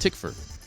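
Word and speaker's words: Tykwer: Second, McTeigue also confirmed that Tom Twyker, which I now believe is pronounced Tickford, is currently working on the music for The Matrix 4.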